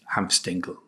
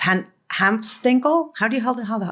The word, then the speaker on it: Hanfstaengl: One of the people whose account is exactly like that is a guy called Ernst Hanfstaengl, who was an American.